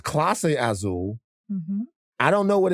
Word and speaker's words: Clase Azul: First we had Clase Azul. Clase? Mm-hmm. I thought it was Casa. How you say it? Clase Azul. It's Clase Azul?